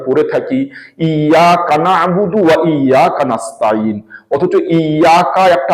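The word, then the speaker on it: إياك نعبد: ইয়াকা এই কাটা ইয়ার শেষ অংশ তো ইয়াকা শেষ অংশটাকে নাবুদুর সাথে মিলিয়ে ইয়াকা নাবুদু বলা হয় এইভাবে ওয়া ইয়াকা নাস্তাইন ওয়া ইয়াকা একটা শব্দ নাস্তাইন আলাদা শব্দ কিন্তু পড়ার সময় ইয়ার পরে কাফটাকে নাস্তাইনের সাথে মিলিয়ে পড়া হয় এটাই নিয়ম মাঝখানে থেমে পড়া মোটেই ঠিক নয় যে ইয়াকা নাবুদু পড়া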